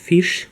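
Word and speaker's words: Fisch: суп риба буде де Фіш читається як англійською пишеться трішки по-іншому де Райс рис дій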